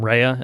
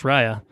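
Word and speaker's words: Raya: of a mayaula here I'm pretty sure I've called this film rehea in The Last Dragon for the entirety of its existence so I guess I didn't know how to pronounce Rya um uh so there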